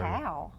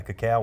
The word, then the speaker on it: cacao: cacao. Oh yeah, cacao, which is not the same as That's cocoa. how you say it. Cacao. It's different. Cocoa and cacao.